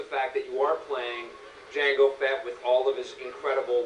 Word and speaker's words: Jango Fett: we did get his dad uh jango fett jango fett not jenga you get incredible cgs you get all that